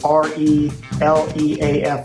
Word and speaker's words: ReLeaf: Is that, how do you pronounce, what do you, ReLeaf Resources Dispensary, and ReLeaf is ReLeaf, like the tree leaf.